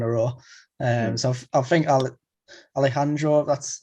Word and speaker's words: Alejandro: So I think Alejandro, that's how you pronounce it, Pantoja, I think he'll be next.